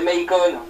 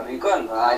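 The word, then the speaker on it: Maicon: pas Malc excusez-nous internaut la prononciation de notre chendre m gribouille n'est pas bonne c'est Mayon ouais c'est la même chose c'est Mayon pas mcon c'est c'est un vieux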